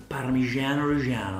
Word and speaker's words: Parmigiano Reggiano: Parmigiano Reggiano, I like the way you call it. Good pronunciation.